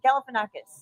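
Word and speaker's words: Galifianakis: Galif Galifanakis.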